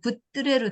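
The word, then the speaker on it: 굿뜨래: 수학여행 왔는데 지금은 이 구두레 이것이 더 조금 발음을 세게 해갖고 굿드레로 됐어요.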